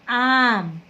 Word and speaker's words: आम: ठीक है, तो अभी मैंने बोला आम, ठीक है ना, आम बोला, अम नहीं बोला, आम बोला।